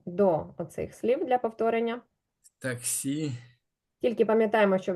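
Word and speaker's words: taxi: оцих слів для повторення таксі тільки пам'ятаємо що в іспанській мові якщо слово закінчується наголосну наголос падає на передостанній склад і воно буде звучати як таксі таксі Супер А ось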